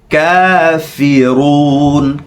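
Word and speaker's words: كافرون: যেন হয় আইয়ুহাল কাফিরুন কাফি কাফিরুন কা এক আলিফ টান ফি এরকম এই জায়গা এখানে লাগবে ফি কাফিরুন আইয়ুহাল কাফিরুন ভিডিওটি বন্ধ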